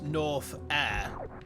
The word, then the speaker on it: Norfair: It occurred to me recently that Norfair is actually a very funny pun. Because it smells like lava and smoke and burning and suffering. And it's pronounced as North Air.